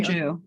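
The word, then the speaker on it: Jue: I hope I'm not going to mispronounce her name. It's Sharon Ju, Sharon J-U-E. Jew, yeah.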